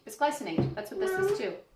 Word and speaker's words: bisglycinate: Yes, but how do you pronounce that? Bisglycinate. Bisglycinate.